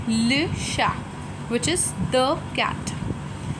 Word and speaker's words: le: As you see on the screen, we use l e, which is pronounced as luh, for the masculine nouns.